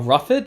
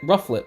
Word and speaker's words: Rufflet: Likewise, the Volib um a ruffet. Is that how you say it? Is ruffet. Rufflet.